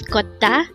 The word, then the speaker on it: 걷다: Again, our word for today is kotta.